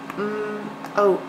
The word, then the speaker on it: mope: So we needed a silent E to make the O say its name.